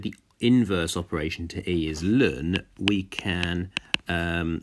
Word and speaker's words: ln: y equals natural log X which is normally pronounced y equals learn X that is the inverse function of the